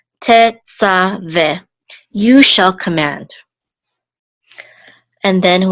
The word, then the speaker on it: Tetzaveh: And then the three dots says this is a segol, and this hey is silent. So this is ve. Tetzaveh, you shall command.